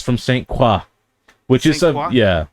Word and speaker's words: Saint Croix: It's French influence. Like LaCroix. Yeah. That sounds Yeah, Maybe, but it's I don't Croix. know. It's pronounced Croix. Croix.